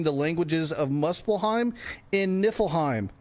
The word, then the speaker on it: Niflheim: We reestablished the bridge to Midgard and earn the triilingual trophy for learning the languages of Muslim in Niflheim. No, not Nippleheim.